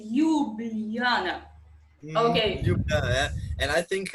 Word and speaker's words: Ljubljana: The capital is called Ljubljana. Ljubljana. Which is kind of, I think only Balkan people know how to pronounce it correctly, because it's.